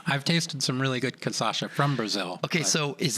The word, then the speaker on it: cachaça: I say canchaça. I mispronounce it all the time. Please forgive me. How you say it beautifully? Cachaça. Cachaça, yes.